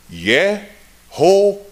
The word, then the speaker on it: Yehovah: And here's how they pronounced that. Yehovah. In English, we say Jehovah. Now, they've come along today and it's all Yahweh.